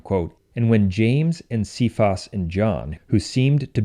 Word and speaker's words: Cephas: but rather the name Chavez that name is pronounced Cephas in English but in ecclesiastical latin it is pronounced che Foss even though it's spelled the same way and